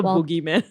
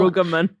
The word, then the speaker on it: Brueggemann: Sometimes I say it wrongly. Walter Boogeyman. No. Brueggemann.